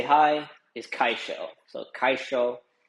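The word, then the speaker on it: kaixo: looks like you know because of the x in it um you might confuse it but it's kaisho so you know don't mess that one up.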